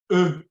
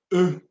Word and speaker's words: eux: And also carefully learn the plural masculine, eux. Eux. You just say eux. So it's pronounced like eux in je, eux. So the X is silent.